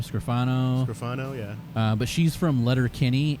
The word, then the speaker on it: Scrofano: I don't even know how to pronounce her last name. Sounds Italian. Scrofano? Yeah, Scorfano. Scrofano, yeah.